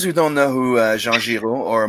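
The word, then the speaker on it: Jean Giraud: am i saying that right yes you are jean-jiro okay jean-juro and is it mobius or is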